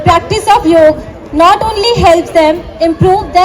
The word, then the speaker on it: yoga: to clarify one thing the correct pronunciation of this word is नॉट योगा बट योग ट्स हाउ it suppose to be pronouns and ट्स हाउ व